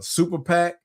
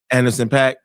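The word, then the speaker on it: Anderson .Paak: And I think um if you get uh Super Pack uh I know I'm saying his name wrong. The drummer Anderson pack.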